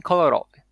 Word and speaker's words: kolorowy: There is also secondary stress, which exists in words that have more than 3 syllables, and it almost always falls on the first one, as in kolorowy. Ko is secondary stressed, Ro is primarily stressed. Kolorowy.